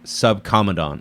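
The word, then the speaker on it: Subcomandante: well it's not his name it's his rank sub commandant oh sub comma at the Marcos okay is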